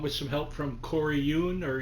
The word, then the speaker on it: Yuen: And the leads are Jackie Chan, Samo Hung, who directed along with some help from Corey Yun or Yen, however pronounce it. It's Yuen and um who am I trying to think of here?